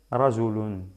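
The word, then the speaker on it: رجلٌ: La pronunciación de doble damma sería rajulun.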